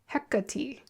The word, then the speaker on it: Hecate: Oh, her name is Hecati.